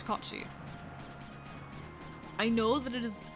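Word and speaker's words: Cait Sith: I mean, the authentic way to pronounce it, it is primarily a Scottish myth, but it is also found in Irish folklore. The proper pronunciation is Kachi.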